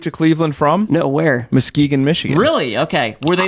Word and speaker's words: Muskegon: Muskegon, Michigan. Really? Okay. Were they the Lumberjacks in Muskegon? What? It's Muskegon, Steve. My bad. Muskegon.